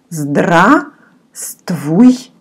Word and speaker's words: Здравствуйте: You don't pronounce it, looks very long, but one letter here you don't pronounce, which is V. 1, 2, 3, 4, fifth. The fifth letter you actually don't pronounce at all. So you say Здравствуйте.